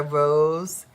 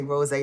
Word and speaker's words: Rose: I'm gonna get the Rose in the Woods. I wanna say rose so bad, but there's no accent on the E. So it's Rose in the Woods.